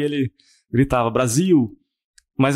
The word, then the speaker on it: Brasil: Eu falei não, S não é Brasil, é Brasil. Tem o L no final da palavra se pronuncia como eh U, né?